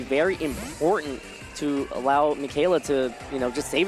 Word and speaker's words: Michele: some damage around and apologies for mispronouncing his name uh it is actually pronounced michaela so my apologies for that one as lunala is going